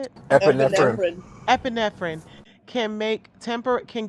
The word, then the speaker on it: epinephrine: Epinephrine.